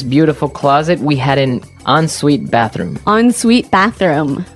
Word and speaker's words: ensuite: closet, we had an ensuite bathroom. Ensuite bathroom. Ensuite bathroom. Sorry, another note on the spelling here. It's E-N right? hyphen S-U-I-T-E. So even though it's E-N, we pronounce it like an O-N.